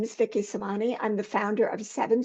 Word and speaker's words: Semanie: it I was sure yes it's actually Vicki Sani Sani thank you I usually check that with everybody